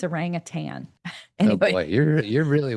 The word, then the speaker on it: orangutan: Say it the way you're supposed to, though. Orangutan. There's like the way people say it now. I don't think we say it right. Oh, I'm not familiar. I'm familiar with orangutan. I am too, but I feel like we've learned recently that it's like orangutan or something.